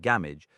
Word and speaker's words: Gamwich: Thus Gamwich, pronounced Gamage, seemed a fitting translation.